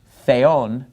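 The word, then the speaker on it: θεόν: So notice the word for God, theon, the accent is on the second syllable. That's where the mark is.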